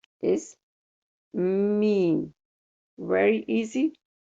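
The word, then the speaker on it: ميم: This sound is exact match for the letter M in English. So M and Meem, Meem. It's not hard, it's very easy to pronunciate.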